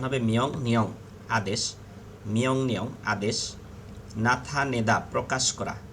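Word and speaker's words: 명령: মিয়ং নিয়ং আদেশ করা। মিয়ং নিয়ং। ইয়ং এর পরে রিয়েল আসলে রিয়েলের উচ্চারণ ন হবে। উচ্চারণ হবে মিয়ং নিয়ং আদেশ।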